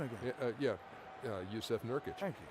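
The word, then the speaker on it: Jusuf Nurkić: Jusuf Nurkic.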